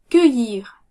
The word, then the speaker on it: cueillir: Cueillir. Cueillir. Cueillir. Cueillir. Nous entendons bien le son Y.